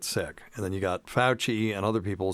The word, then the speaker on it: Fauci: Yep, Fauci.